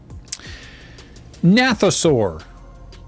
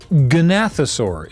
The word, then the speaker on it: Gnathosaur: Nathosaur, or Gnathosaur, if you want to pronounce the first letter of the word, as you typically do.